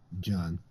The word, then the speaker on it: Gian: Is it pronounced John or Gian? John. Okay, yeah, I thought they pronounced it John.